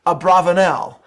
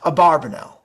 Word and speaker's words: Abravanel: whatsoever on the matter I will be utilizing Nano's preferred pronunciation of the name Abravanel rather than abarbanel I understand how people